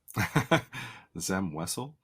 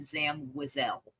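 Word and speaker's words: Zam Wesell: his character's name okay Zam wessell thank you correct the correct pronunciation still not over it is no different pronunciation indeed there is so some people she introduces herself in Star Wars Bounty Hunter the two two video game hi I'm Zam wazelle oh because at I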